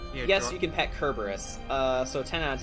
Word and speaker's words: Cerberus: fact a dog kerberus yeah don't you read Cerberus Jordan no it's pronounced kerberus threw me off the first time too and